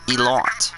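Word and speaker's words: Ilott: Jack Aiken, Dan Tickham, and Callum Elott.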